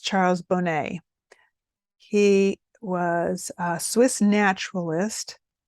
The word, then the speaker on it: Charles Bonnet: me here we go there it is uh Charles Bonnett Syndrome and actually it's pronounced Charles Bonet he was a Swiss naturalist who first documented